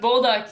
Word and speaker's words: Bolduc: Did I say it right? Bolduc? Bolduc? Bolduc, yeah. Bolduc.